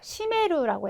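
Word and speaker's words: 占める: 시메루라고 해서 시메테이루라고 하는 표현으로 많이 쓰이니까는요.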